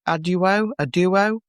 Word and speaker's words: ADUO: There's some different opinions about how the acronym is pronounced. It's ADUO. It's ADUO, and it stands for Additional Development and Upgrade Opportunities.